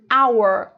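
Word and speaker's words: hour: você prestar atenção aqui tem uma consoante mas o que que acontece ela não é pronunciada ela some na pronúncia e o our and our por isso que é porque é considerado um som de vogal aqui começa direto no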